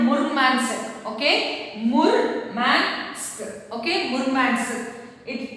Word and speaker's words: Murmansk: So you have to pronounce this word as Murmansk, okay, Murmansk, okay.